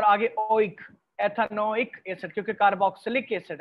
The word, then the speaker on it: कार्बोक्सिलिक एसिड: इसको कुछ students carboxylic एसिड भी कहते हैं, नेम्स डजंट मैटर, केमिस्ट्री में प्रोनाउंसिएशन इतनी इंपॉर्टेंट नहीं होती, लेकिन इतना भी नाम ना बिगाड़ें कि केमिस्ट्स को बुरा लगे। तो कार्बोक्सिलिक एसिड इज the correct one.